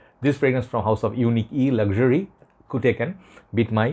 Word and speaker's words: Unique'e: i think this fragrance the house they pronounce that unique e okay unique is house